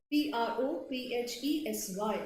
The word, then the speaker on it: prophesy: So noun is prophecy, verb P-R-O-P-H-E-S-Y is prophesy. Both mean same thing.